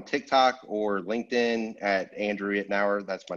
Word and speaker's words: Itnyre: me up on tiktok or linkedin at andrew ednauer that's my name it's spelled i-t-n-y-r-e so that's played me my whole